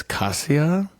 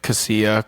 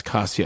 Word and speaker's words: Cassia: oh that's six and it rhymes with Katya and Katya is one of my favorites yeah so my guys